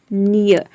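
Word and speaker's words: near: rule नंबर सिक्स है यदि किसी वर्ड में ई ए के बाद अगर आर हो तो वहां पे ईय को आपको य प्रोनाउंस करना है फॉर एग्जांपल नियर नियर में आप देख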